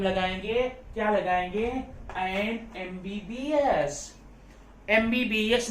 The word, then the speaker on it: MBBS: लेकिन जरा उसको पढ़कर देखिए, एम म हम नहीं पढ़ते, उसको म नहीं पढ़ते, क्या पढ़ते हैं? एम।